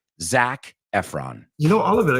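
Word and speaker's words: Zac Efron: let's hearon or should I say it correctly Zach Efron you know all of it it's it's just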